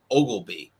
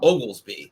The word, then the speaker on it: Oglesby: So I was saying it correctly, but he was saying a lot of people miss the S and call him Ogleby. And it's not Ogleby, it's Oglesby. There's an S in there.